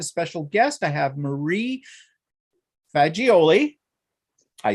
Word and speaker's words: Faggiole: I have Marie Faggiole.